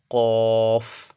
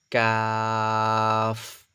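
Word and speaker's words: قاف: করুন কফ ঠিক আছে ভিতর থেকে নলির ভিতর থেকে আসবে প্লাস মুখটা গোল হয়ে যাবে আওয়াজটা যেন গোল হয়ে বেরিয়ে আসে ঠিক আছে মুখটা থেকে কফ ঠিক আছে এরপর হচ্ছে আপনার কাফ তাহলে এটা হল আপনার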